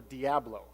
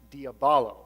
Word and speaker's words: diabolo: Civilization which is actually diabolo it's a Greek word diabolo and that means to